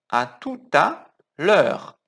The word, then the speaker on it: à tout à l'heure: Cuidado na pronúncia. À tout à. Tem que juntar aqui, com som de T. À tout à. À tout à l'heure.